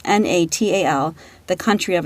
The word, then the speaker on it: Natal: The name actually comes from Natal, I believe is pronounced, Natal, the country of its origin, which is a province in South Africa.